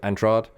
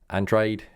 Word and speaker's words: Andrade: to lock horns with andrad andrade andrade here we go three different versions of that pronounced um so uh